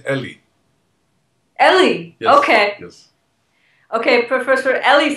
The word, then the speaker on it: Eli: say that right right Eli that's how Americans pronounce my name but I pronounce it Ellie Ellie okay okay Professor